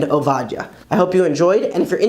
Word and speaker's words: עבדיה: And instead of saying a funny sounding name like Zephaniah or Obadiah, you'll say Tzefania and Ovadia.